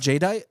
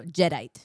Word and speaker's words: Jadeite: It's not Jadeite? No, Jedite. Like a Jedi, but Jedite.